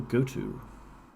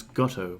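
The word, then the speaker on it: GOTO: the program again little go to which back in the day I used to pronounce Gotto by the way to rhyme with Grotto made sense to me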